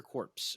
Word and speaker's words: Corps: Corps. Yeah, the P is silent.